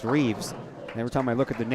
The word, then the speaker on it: Reeves: People wanted to say Rives. It's R-I-V-E-S, but it's pronounced Reeves.